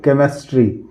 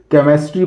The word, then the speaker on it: chemistry: जैसे मान लीजिए लिखा हुआ है CHEMISTRY, केमिस्ट्री। इसको हम केमिस्ट्री नहीं पढ़ेंगे, इसको हम पढ़ेंगे केमिस्ट्री। ये इसका एजम्पशन से अपवाद है। CS से शुरू हुआ है लेकिन हम इसको केमिस्ट्री पढ़ते हैं।